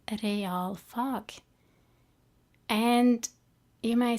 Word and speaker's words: realfag: So we say realfag, and that means maths, physics, chemistry, and science, those kind of subjects. Now it's 2 words put together, and it's spelled R-E-A-L, as in real.